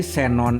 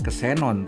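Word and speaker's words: xenon: Huruf X pada posisi awal kata diucapkan sebagai S. Jadi senon itu dibacanya senon, bukan kesenon tapi senon.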